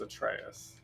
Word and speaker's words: Atreus: Alright, Atreus, man. Atreus. His name is Atreus. I always say it wrong. Okay. I gotta speak like a Greek, right? Atreus.